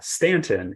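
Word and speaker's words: Staunton: Stanton Virginia and and uh that word uh Stanton is is pronounced with a with that a sound in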